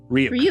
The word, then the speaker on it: Ryuk: And like basically kind of the big thing is that we had Light met I'm pronouncing Ryuk. Ryuk.